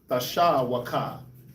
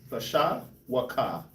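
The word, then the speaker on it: תְּשׁוּקָה: Tasha waka. Tasha waka. Tasha wa is how you pronounce this word.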